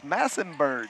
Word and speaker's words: Massenberg: that Chris on Twitter telling us that it's massenberg massenberg massenberg Jerick massenberg Rashad there it